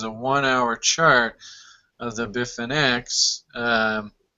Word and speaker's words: Bitfinex: one-hour chart of the biff and x if i'm even pronouncing it right yeah yeah you got it bitfinex um and you know